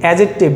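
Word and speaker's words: adjective: আমরা অনেকে বানানের সাথে উচ্চারণ মিলিয়ে পড়ার জন্য পড়ি অ্যাডজেক্টিভ। না ভাই, এটা হচ্ছে ভুল উচ্চারণ, ঠিক আছে? আপনার আমার তো এই বর্তমান প্রতিযোগিতামূলক পরিবেশে যদি পড়ালেখা করতে হয় তাহলে তো ভুল প্রোনাউন্সিয়েশন করা যাবে না। তাহলে আমরা সঠিক উচ্চারণটা হচ্ছে কি? অ্যাডজেক্টিভ। তাহলে কি? অ্যাডজেক্টিভ, ডি উচ্চারণ হবে না।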